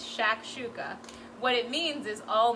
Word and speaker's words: shakshuka: that recipe is shakshuka so shakshouka that's the pronunciation if anyone was wondering it's shakshuka what it means is all mixed up so